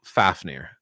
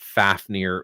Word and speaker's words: Fafnir: uh so for example fafnir fauvenir depending on how you do the pronunciation on it but fafnir is the most common english pronunciation uh usually people think